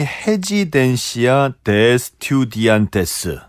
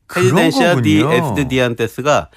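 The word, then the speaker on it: Residencia de Estudiantes: 그러니까 R 발음이 H 발음이 나거든요. 스페인은. 그래서 레지던스죠. 레지던스 오브 스튜던트죠. 헤지덴시아 디 에스디안테스가 레지던스 오브 스튜던트예요.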